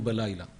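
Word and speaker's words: בַּלַּיְלָה: at night" Here, too, the written format is without the letter hei written as "b'leil", pronounced as "ba'laila" We'll address that later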